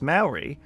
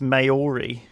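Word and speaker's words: Māori: the way with um when you pronounce Maori as Maori you sound like a banker you should you should be more like the pronunciation of mouldy only your tongue or e LD part shouldn't touch the roof of your mouth or nose really meaning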